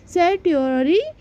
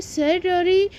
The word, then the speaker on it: certiorari: इसको हिंदी में बोलते हैं उत्प्रेषण लेख, और यहाँ पे आप इसको इंग्लिश में बोल सकते हो सेट्यूटरी रिट, ठीक है। इसकी स्पेलिंग है CERTIORARI, ठीक है।